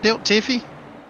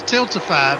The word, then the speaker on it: Tiltify: Last night we got introduced to Tiff Tilt Tiffy. So yeah, tilt tiffy. I'm sure supposed to been Yes, it was Tiltify, but uh somehow along it got pronounced Tilt Tiffy.